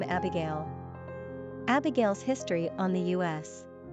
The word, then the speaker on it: Abigale: However, they are all pronounced exactly the same way, so it's hard to understand the purpose behind respellings, unless they're intended to confuse. Abigale, Abigale, Abigale, Abigale, etc.